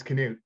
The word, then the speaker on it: Knut: me for clarity uh the name is not not it's Knute oh is it that's how that name's pronounced it's connected to the traditional traditional Nordic name I thought everybody say Knute was with me and like no it's canoe sorry that's okay Knute Victor